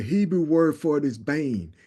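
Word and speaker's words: בֵּן: word son the Hebrew word for it is Bane it's pronounced Bane but it's b n the the the the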